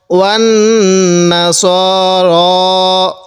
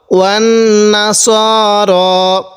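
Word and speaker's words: وَالنَّصَارَىٰ: ওয়ান নাসার। অনেকে আমরা এখানে যে ভুলটি করি সেটি হলো ওয়ান নাসারা এরকম করে পড়ি। এরকমভাবে পড়ব না। তাহলে কিভাবে পড়ব? ওয়ান নাসার এরকমভাবে পড়ব।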